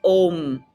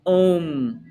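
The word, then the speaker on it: homme: all you know an OM an OM H's exist in the French language but they're never pronounced they do not pronounce the h sound so go right to the vowel repete say an um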